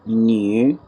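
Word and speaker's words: 女: आसानी से याद रखने के लिए जिस तरह हम उर्दू में न्यू बोलते हैं, नया वाला न्यू जिस तरह बोलते हैं, तकरीबन वैसे इसकी साउंड आती है, न्यू, न्यू, न्यू।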